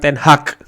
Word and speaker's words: ten Hag: Jadi Manchester United fans ini ya, ini menginginkan Erik ten Hag bacanya, bukan Ten Hag. G-nya tuh dibaca Ten Hag.